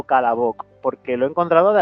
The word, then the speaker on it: Kolobok: la pronunciación, Kolobok o Kalabok, porque lo he encontrado de las dos maneras. Verás, es que en ruso muchas palabras que se escriben con O en alguna parte acaban pronunciándose con casi una A.